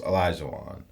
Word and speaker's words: Olajuwon: He would know it's Olajuwon. Unless I'm wrong and everybody else is wrong. But I thought it was Olajuwon.